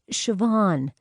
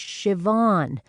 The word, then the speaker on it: Siobhan: in the corner is Siobhan." "What kind of name is that?" "That's her name. Siobhan," Brenna said. She had to hide her smile at Ella's frown. "It's an Irish name pronounced Siobhan."